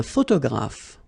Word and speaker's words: photographe: So here, PH, and here, PH, pronounce it like F, f, f, f.